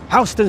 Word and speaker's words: Houston: It is spelled the same um the same way as the city in Texas, Houston. But here in New York, we called it Hston Street, as in house.